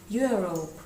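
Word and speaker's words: Europe: travelling a Cross your зверніть увагу як вимовляється ось це слово Європа you Rope приблизно так давайте подивимося і тут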